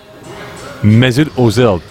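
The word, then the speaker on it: Mesut Özil: Find out next year on You'll Never Walk Alone with who looks like Mesut Ozil today.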